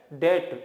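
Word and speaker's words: debt: पहली चीज तो ये इसे बेड डेप्थ नहीं पढ़ना है बी साइलेंट होता है इससे पढ़ेंगे बेड डेट ठीक है ना तो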